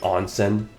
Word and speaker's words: onsen: I can't use the onen ticket, right? Onen. Wow, that was the most English. That was the most white way of pronouncing it. Onsen.